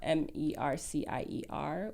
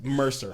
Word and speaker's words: Mercier: think you're talking about m-e-r-c-i-e-r which is french mercier but i don't think i don't know i don't know the origin of his we could just be completely ignorant as a human you pronounce it fancy this is all there is you think it's too hard bro it's mercer well if you